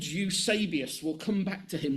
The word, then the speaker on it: Eusebius: EUSE B-I-U-S. E-U-S-E-B-I-U-S. Eusebius. That's how that's pronounced, right?